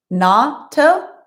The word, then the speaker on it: natto: Natto. So it's pronounced natto.